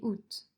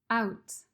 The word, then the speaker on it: août: de juin juillet et août d'ailleurs pour la prononciation je voudrais préciser que les mois août peut être prononcé sans le a comme je le fais ou avec le a out avant de commencer l'épisode